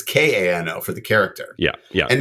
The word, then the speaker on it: Kano: It could be CAN-O, but really it's Kano.